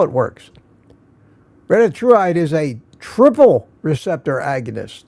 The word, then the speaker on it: retatrutide: And has started on something called retatrutide that is experimental.